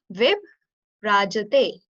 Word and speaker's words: Vibhrajate: Okay, try to like pronounce it by breaking. Vib rajate.